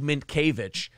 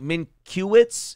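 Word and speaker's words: Mientkiewicz: twins first baseman Doug minkiewicz what you're trying to pronounce you're like Min kuwitz it's like okay I can see where you'd get that that's how the letters are arranged Brendan's adding letters in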